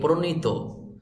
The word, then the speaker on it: প্রণীত: জাতীয় শিক্ষানীতি 2010 এর লক্ষ্য ও উদ্দেশ্যকে সামনে রেখে পরিমার্জিত শিক্ষাক্রমের আলোকে প্রণীত, শব্দটির সঠিক উচ্চারণ হবে প্রণীত। আমরা অনেকে বলি প্রণীত, প্রণীত বললে হবে না, শব্দটির সঠিক উচ্চারণ হবে প্রণীত।